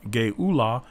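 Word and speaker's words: גְּאֻלָּה: Gullah, pronounced Geula, feminine passive participle.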